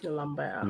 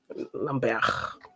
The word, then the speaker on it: Lambert: If he's actually French, then I'll say French. Lambert. Yeah, he's French. Bear. Lambert. You don't really roll your R's, do you, that much? You just kind of stop your R's.